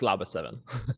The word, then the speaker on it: LABA7: topic redefining the future of vehicle testing with labba 7 and did I pronounce that right is that how you pronounce it Andreas yes that's that's right it's labba 7 okay fantastic so uh Andreas is the CEO